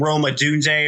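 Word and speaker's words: Rome Odunze: I mean, drafting what's his name, Roma Dunze, or however you pronounce that. That's how you say it.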